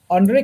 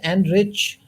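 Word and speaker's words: Anrich: just weird name right andre nokia his name should be pronounced and rich not j but then he's pronounced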